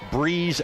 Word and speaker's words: Brees: When asked for the pronunciation of his full name, he said Evan Breeze Allen.